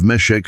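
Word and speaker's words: Meshech: The Hebrew pronunciation of Meshek sounds remarkably similar to Moscow while Tubil appears connected to the Tibonyi mentioned in ancient Assyrian records and later classical sources.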